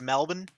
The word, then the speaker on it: Melbourne: excuse me from strat excuse me it's pronounced melbourne got a point actually